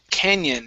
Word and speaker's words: canyon: And the last one for you is the word canyon. Now, with canyon, you added a T sound at the end, saying canyon. Okay, end on the N.